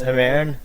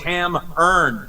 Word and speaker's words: Hammerne: my band name it turns out it's actually pronounced haman and i've been saying it wrong it's my time yeah you you told me no it's ham earned and oh yeah okay yeah i [ __